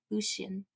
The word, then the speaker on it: Lucian: I want to say that right. Lucian. It's not the American way. They said that Americans say it wrong.